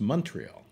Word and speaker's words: Montreal: Actually, it's pronounced Montreal.